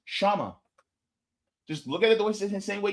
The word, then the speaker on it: Kshama: The K in the front is silent. Okay? It's not Kshama. It's Kshama.